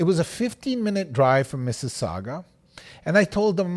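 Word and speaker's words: Mississauga: the Ontario area you might have some problems pronouncing that City but it's Miss Saga it is a city Google it okay she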